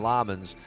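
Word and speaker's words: Lammens: I say Lemons and they call him Lammonds.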